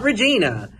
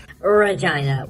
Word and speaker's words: Regina: the illustrious city of Regina and it's not Regina it's specifically supposed to be pronounced Regina real thick Regina smuggle bricks from China you